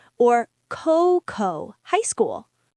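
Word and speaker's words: こう: The ei makes a long a sound or coco high school. Coco coco u co u. The o u makes a long o sound. It's coco, not coho.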